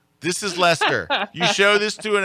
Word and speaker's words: Leicester: it is Leicester.